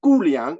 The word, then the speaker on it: Guliang: The second interpretation is the Guliang interpretation. It's written G-U-L-I-A-N-G. In the Pinyin transliteration system, the G is pronounced as a K. So even if it's G, it's Guliang.